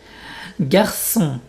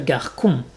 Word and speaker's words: garçon: Garçon, donc c'est comme si je prononçais deux S. Garçon, boy. Français, French. Français, tu entends les deux S. Si j'avais pas mis les deux S, ça ferait garcon, et donc j'écrirais sans le CCD.